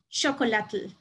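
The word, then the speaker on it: chocolatl: child but the word the correct way to say this i believe is chocolate with an emphasis with a t and l at the end and with that i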